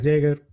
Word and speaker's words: Yeager: Yeager, según la pronunciación inglesa que nos ofrece uno de nuestros invitados, que es Sergio.